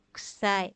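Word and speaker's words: 臭い: Tapi ki dan ku-nya tidak diucapkan secara jelas, diucapkan dengan kita, kusai, seperti itu.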